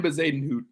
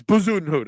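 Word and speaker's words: Bezuidenhout: Christian Bazadenhout. Bazaden? No, that doesn't sound as cool. It's Bazunhut, okay?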